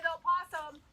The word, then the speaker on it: opossum: awesome animals because remember what rhymes with opossum awesome you got it um